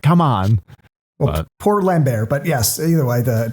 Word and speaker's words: Lambert: Christopher Lambert. Yeah. Well, okay. I know that's how it's said in French, but in every trailer it was Christopher Lambert. So I'm gonna stick with calling it Lambert because that's how they called him all the trailers in America.